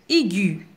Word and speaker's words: aiguë: à la troisième règle l'adjectif angüe prend un traitement sur le e afin d'indiquer que le e doit se prononcer un exemple un son aigu c'est à dire une partie élevée de l'échelle musicale ou bien il fit mine à une note aiguë un objectif terminer par